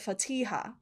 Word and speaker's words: Fatiha: Um and then we've got Fatiha who is I have heard her pronounce it Fatiha like with the emphasis on the T.